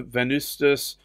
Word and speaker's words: Venustus: It's actually a V, actually, but pronounced as a U. So Venustus, and it's Aqua di Spargi.